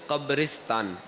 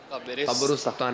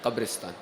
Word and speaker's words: قبرستان: اچھا، اس کا صحیح تلفظ ہے قبرستان، قبرستان نہیں، قبرستان.